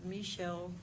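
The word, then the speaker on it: Meshall: Please state your name and spell it for the court reporter. My name is Michelle.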